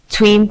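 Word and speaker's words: 'tween: Now, and notice the little apostrophe. It's a long tween. Between. Between. Yeah. The B is Tween. because between two syllables, the poem only wants one syllable there, so you just put an apostrophe in.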